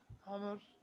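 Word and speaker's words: عمرو: Amr. So this wow is not to be pronounced.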